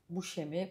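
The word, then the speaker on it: Buscemi: Yazanın karşısında Steve Bushemi. Buemi diye okunuyormuş ve ben onu gördüm ve durdum.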